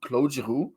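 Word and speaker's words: Claude: were Claud Claud jaru I hate that I'm calling Claud is Cloe I'm French I should say his name properly clu and rley Greg yeah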